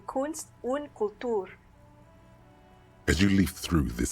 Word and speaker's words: Kunst und Kultur: It takes a moment, but gradually it dawns on you that Kunst und Kultur must mean arts and culture. No, that's not the pronunciation. Kunst und Kultur.